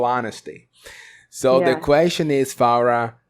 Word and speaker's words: Farah: it like pharah okay so it's pharah Farah but with that with an open a sound Ah that's right right